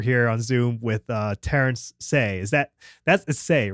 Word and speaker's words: Hsieh: Usually we go with like Hsieh. Hsieh. Yeah. Okay. All right. But so I've heard any number of variations on that, and they're all valid because they all look at me when they're like, Terence, just, and I'm like, they pronounce the H too heavily.